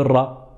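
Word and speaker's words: ر: La lettre ra, c'est un peu comme le R en espagnol, le R roulé.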